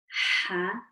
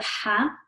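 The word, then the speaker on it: ح: And then the next question is for the Ha. Which part of the throat is the Ha pronounced from? The middle.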